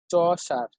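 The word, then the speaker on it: Chaucer: খুবই ইম্পর্টেন্ট এই লেখক জিফ্রে শসার। জিফ্রে শসার বলা হয় বাংলা উচ্চারণ চসার।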